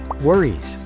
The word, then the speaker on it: worries: ending e s in the word worries is pronounced worries worries no worries no worries no worries no